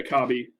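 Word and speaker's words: Kabbie: Is that how you pronounce it? Kabi, Kobe? Yeah, Kabi. Yeah.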